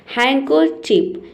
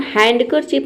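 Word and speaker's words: handkerchief: हैंकर चिप। इसे हम हैंडकर चिप नहीं बोलेंगे।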